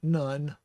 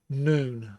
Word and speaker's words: Nun: And the spelling is usually N-U-N, but most people catch on and don't call it none. They call it noon, as in noontime.